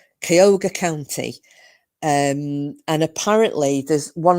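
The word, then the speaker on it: Cuyahoga: It's pronounced C, sorry, it's spelled C U Y A H O G A and it was pronounced Kyogre. Kyogre County.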